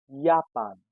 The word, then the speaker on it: Japan: Next is Japan and we call it Japan.